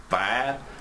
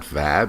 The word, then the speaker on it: vibe: Vibe? And it's not vab, it's vibe. Now, vibe is a great word to use if you pronounce it correctly.